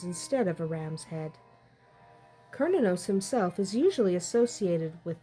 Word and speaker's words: Cernunnos: Celtic horned God throughout most of Europe is kinos in some regions it may be pronounced cernos depending on where exactly in Europe you are but if you are in the Celtic areas it is typically pronounced kinos kinos is the primary God of the Irish